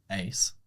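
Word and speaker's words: Uys: So I was born in South Africa and my last name is pronounced Ace, but it's spelled U-Y-S.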